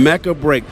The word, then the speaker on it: Mecha Break: our eye walking past Mecca break am I pronouncing it correct that's correct Mecca break this game look absolutely